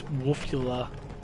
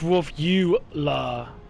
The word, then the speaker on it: Wolfula: i i just can't i pronounced it wrong wolf like dracula it's okay but yeah